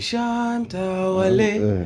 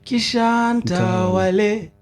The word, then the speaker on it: Kishantawale: so, Si ni art ukisikiza haraka utasikia ni Shantawale. Lakini ukisikia kwa makini ni Kishantawale. Unanielewa?